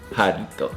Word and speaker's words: Jarritos: Jarritos. Can you say it one more time? Jarritos. Jarritos. If I say it fast, I can try to roll my R's like jarritos.